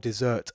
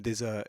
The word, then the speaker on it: desert: Desert is not obviously, I mean, we're not talking about sort of, it's spelt, desert as in desert when you read it. And so it's definitely not dessert as in, I don't know, an apple turnover or something like that, that a beggar